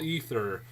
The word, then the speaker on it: Aether: being released is called ether. No joke. It's like spelled like AETHER or something like that, and it's like, really, you're calling it ether?